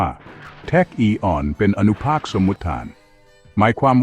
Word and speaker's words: tachyon: ที่ เร็ว กว่า แสง แท็ก ออก เสียง ว่า แทค อีออน เป็น อนุภาค สมุทธาน หมาย